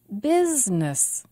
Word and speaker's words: business: has the most stress business business two syllables and the stress is on biz language language two syllables